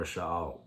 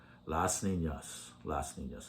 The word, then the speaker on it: Las Niñas: Maybe there's only three characters of Rebelde, and that are La Niñas, the girls, or Sha'al. I said it wrong. Las Niñas is correct.